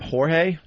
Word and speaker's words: Jorge: will be awake service held on Tuesday at Jorge J-O R G E right Yea depends where your are from How to pronounce that Jorge Rivera Funeral Home